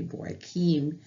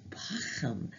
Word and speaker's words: Bauckham: We are actually studying from his commentary on the Word Biblical Commentary, Jude, 2 Peter, Richard Boykeem, and I have been saying Bauckham.